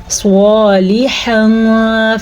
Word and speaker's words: صالحا: صالحا فلہم، سواد کو پور پڑھنا ہے، سواد کے حروف مستعلیہ میں سے ہے اس لیے. لام زیر لی، اس کو